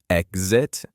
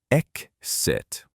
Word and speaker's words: exit: Should it have a Z sound or an S sound? Both are correct. You can pronounce exit either way. So exit and exit.